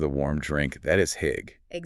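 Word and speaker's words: hygge: They call it hig. Hig. How do you spell that? H y g e. Hig.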